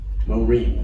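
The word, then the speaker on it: מורים: here eight becomes re and then the final mem. Morim. The yod isn't pronounced cuz it doesn't have a vowel under it.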